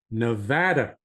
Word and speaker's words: Nevada: So Nevada. Tom is a psychotherapist, marriage and family therapist, and a licensed clinical alcohol and drug counselor. He served for many years as adjunct faculty at the University of Nevada School of Medicine, Psychiatry, and Behavioral Sciences.